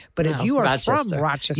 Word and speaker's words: Rochester: You would probably say Rochester. But if No, you are Rochester. from Rochester, You might think there was a D in it.